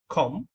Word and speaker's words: comb: This is not actually comb, okay, this is comb. চিরুনি মানে হচ্ছে কম, তাহলে উচ্চারণটা হবে কম, বি প্রনাউন্সিয়েশনে আসবে না, উচ্চারণে আসবে না।